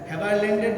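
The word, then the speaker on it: Haberlandt: Land, টিটা কিন্তু silent, উচ্চারণটা ল্যান্ড, টিটা সাইলেন্ট।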